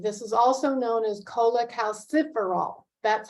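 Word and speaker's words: cholecalciferol: deficient in D3 this is also known as Cola calciferol that's how you pronounce that big long word that's on the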